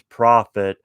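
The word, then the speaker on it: Proffit: would spell prophet but instead of one f it's two f's so i'm assuming it's pronounced the same way and he has two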